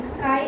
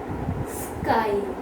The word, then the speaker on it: sky: In sky at the last, in crypt in the middle.